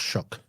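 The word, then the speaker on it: Shough: level and uh Tyler shuck even though it's spelled sha or s h o u g h it's pronounced shuck what about uh milro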